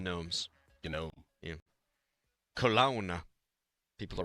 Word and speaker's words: Nome: N O M E, not the silent G like the lawn gnomes.